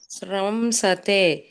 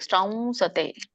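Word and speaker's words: ಸ್ರಂಸತೆ: ಇನ್ನೊಮ್ಮೆ ಹೇಳಿ ಕೇಳಿಸಲಿಲ್ಲ ಶ್ರಮಸತೆ ಶ್ರಮ ಹೇಳಬೇಡಿ ಮಾತಾಜಿ ಮ ಬರಲ್ಲ ಅಲ್ಲಿ ಶ್ರವ ಬರುತ್ತೆ ಶ್ರವ ವ ಮುಗಿಂದ ಹೇಳಬೇಕು ಶ್ರಂಸತೆ ಶ್ರವಸತೆ ಸರಿ ಹೇಳಿ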